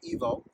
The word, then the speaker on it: Ivo: channel is evo gt my name is evo it's spelled ivo but ever since i've